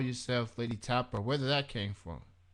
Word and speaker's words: Lei'D Tapa: made you call yourself Lady Tapper? Where did that came from? it came from, well, the way it's pronounced Lady Tapa, but it's spelled Lei, and the lei stands